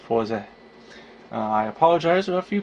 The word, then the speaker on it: Fourze: name of the character i have given him more of a westernized name before instead of his actual japanese katakana pronunciation of forza i apologize or a